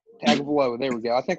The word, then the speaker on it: Tagovailoa: Tua, I'm just calling him Tua because I always mispronounce his last name. Tagovailoa. Tagovailoa.